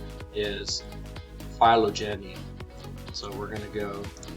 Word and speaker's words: phylogeny: Phylogeny. Phylogeny, that's how you say it.